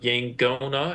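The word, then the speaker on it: yaqona: already so rare, and so you look for a common diphthong, and in Fijian, it was the NG sound, so you Hmm. get words like Yangona that are spelled with a Q.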